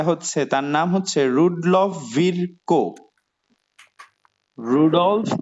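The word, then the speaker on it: Virchow: microphone গুলো mute করো ওকে বাংলা এখানে তিনটা রূপ আছে একটা ভিরকো ভার্চু এবং আমরা এই ভিরকোর কথাটাই মনে রাখবো ঠিক আছে এটাই সঠিক উচ্চারণ তাহলে দেখো আমরা প্রথমেই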